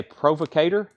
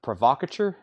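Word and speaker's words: provocateur: he takes Foreigner agent I used to say provocator I found out that word is pronounced provocatur it also looks like provocator but provocature makes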